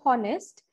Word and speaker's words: honest: as harvard over or honest we pronounce them as our or may be honest so the sound is o sound which is vowel and that is why